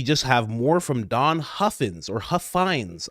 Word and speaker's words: Huffines: And then we just have more from Don Huffins or Huffines. I've been told his name is pronounced Huffines, the owner of what was known as Zorro Ranch.